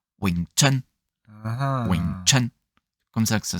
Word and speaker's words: Wing Chun: C'est c'est Ouais, c'est son très haut et donc ça se prononcerait enfin j'essaie de faire le meilleur condonné que je puisse faire, c'est Wington.